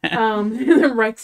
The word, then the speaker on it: Reich: And our last name is Reich, which even if you like don't pronounce it rich, like in German it does essentially like translate to rich.